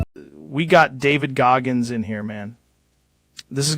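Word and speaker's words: Goggins: Gaggin sounds kind of right. It does not sound right. Feels right. It rolls off the tongue. It rolls off the tongue because you're saying it wrong.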